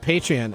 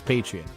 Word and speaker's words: Patreon: Or is it Patreon? I think it's Patreon. Okay, Patreon.